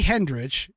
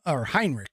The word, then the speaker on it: Heinrich: Jackie Hendrich in the piece here. Oh, excuse me. Jackie Hendrich is Heinrich.